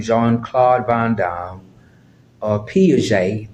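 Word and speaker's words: Piaget: John Claude vam or P J the t is silent p i a g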